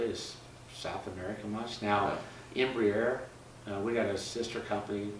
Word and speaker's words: Embraer: Embraer. Embraer.